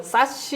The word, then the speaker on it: SASE: 뭐 사시 이렇게 읽으시는 분들도 있고. 네, 사시, 사세. 사세. 예. 통일하시죠, 오늘은. 네. 가트너에서 제안하는 네. 것처럼 네. 세시라고 세시라고. 하겠습니다.